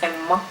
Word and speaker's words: Emma: Actually, when you pronounce my name in Finnish, it's Emma and not Emma, but like I like the sound of it, flower am I.